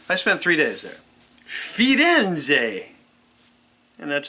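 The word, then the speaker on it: Firenze: many days three I spent three days there fiden and that's how you pronounce it those Italians they got a different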